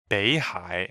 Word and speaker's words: 北海: 北 is a third tone. 海 is also third tone. And then because of the tone change rule, the first third tone turns to second. So it's actually pronounced 北海 as in second tone and third tone.